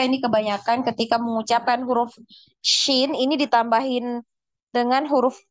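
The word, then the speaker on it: شين: Nah, jadi bukan sin gitu ya bacanya, tapi di tengah lidah. Tengah lidahnya dinaikkan ke langit-langit. Shin, shin. Jadi jangan shin. Nah, jangan terlalu fokus ke y ya. Ada huruf y di tengahnya. Jadi shin ya.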